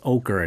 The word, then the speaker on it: ochre: color of the origin so that's how it's pronounced ochre not otra I know I mean the color is it